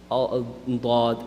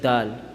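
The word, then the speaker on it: ضاد: your Arabic language but is not pronounced like that except with the full mouth bawd people sometimes pronounced is bought just like dad right except that is bought instead right dad was a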